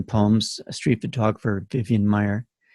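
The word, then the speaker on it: Maier: book the vivian palms a street photographer vivian meyer it's spelled m-a-i-i-m-a-i-e-r so you can find a great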